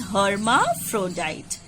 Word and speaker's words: hermaphrodite: You pronounce it as hermaphrodite.